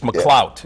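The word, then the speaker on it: McLouth: year i mean it's mcclout one night you don't pronounce the h it's mccloud yeah it's mcclot one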